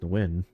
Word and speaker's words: Nguyen: I know the last name is pronounced Nguyen.